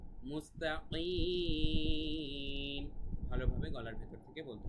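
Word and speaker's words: مُسْتَقِيم: ঠিক আছে, ইহদিনাস সিরাতাল, র এক আলিফ টান আছে কিন্তু, তারপরে কল, মুস্তাকিম, কিম, কফ গলার ভেতর থেকে হবে। অনেকে বলে মুস্তাকিম, কিম বললে হবে না, মুস্তাকিম, মুস্তাকিম, ভালোভাবে গলার ভেতর থেকে বলতে হবে।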